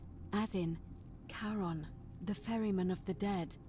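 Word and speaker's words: Charon: it's just as you described it only your pronunciation is a little off the name you heard wasn't karen it was c h e r o n as in caron the ferryman of the dead oh [ __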